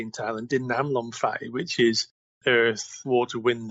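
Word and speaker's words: ดิน น้ำ ลม ไฟ: Or, as they say in Thailand, Din Nam Lom Fai, which is earth, water, wind, and fire. That's how they pronounce it here.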